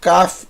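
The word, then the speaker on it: כ: bolinha som de b o CAF é exatamente igual quando você tira quando você tem a bolinha é som de k quando você tira a bolinha ele não é mais CF ele passa a ser raf tem o mesmo valor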